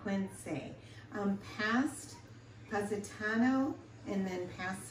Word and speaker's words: Equense: And we are in a town called, I believe it's pronounced Equense? Yes, something like that. Equense.